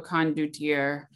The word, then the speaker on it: condottiere: The condottiere. Yes. I just showed you a condottiere.